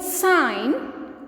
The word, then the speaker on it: sign: In the word sign, G is silent.